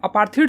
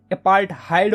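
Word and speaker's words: apartheid: System जो थी ना, अपार्थीड बोलो या फिर अपार्थहाइड बोलो, यार कुछ लोग इसको अपार्थीड बोलते हैं, कुछ लोग इसको अपार्थहाइड बोलते हैं, ठीक है। तो जो भी तुम्हें प्रोनाउंसिएशन सही लगता है यार वो बोलो तुम, ठीक है।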